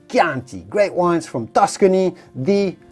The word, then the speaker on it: Chianti: right well of course you do not want to say chianti but simply chianti great wines from tuscany